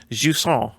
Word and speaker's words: Jusant: It's Alan Wake 2's Intensity, which I believe is pronounced Jusant, which is French, which makes sense.